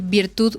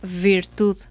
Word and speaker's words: virtud: los dientes inferiores Entonces ustedes dicen como este no sé una palabra Sí por ejemplo ustedes quieren ver quieren la palabra virtud Y en lugar de decir virtud ustedes dicen virtud Ajá Entonces es ese